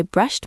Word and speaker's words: brushed: Even though it ends with the letters e and d, it sounds like a t at the end. Brushed. It's a sharp sound.